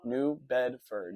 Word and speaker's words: New Bedford: How do you pronounce it? New Bedford? New Bedford, yeah.